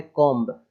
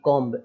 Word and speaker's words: comb: हुआ है कॉम्ब, COMB, कॉम्ब ऐसे पढ़ते हैं लोग, कॉम्ब। तो ऐसे नहीं पढ़ना है, COM। अब बी लिखा है बट वो साइलेंट हो गया क्योंकि एम के बाद आ रहा है, तो केवल पढ़ेंगे उसको कॉम, मतलब कंघी होता है कॉम, केवल इतना ही।